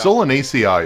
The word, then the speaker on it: Solanaceae: Solanaceae is how you pronounce that, and that is another name for nightshade. Solanaceae.